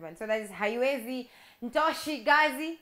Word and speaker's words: Ntosh Gazi: So that is Haiwezi, Ntoshi Gazi, did I say it correctly? Yeah, Ntoshi Gazi.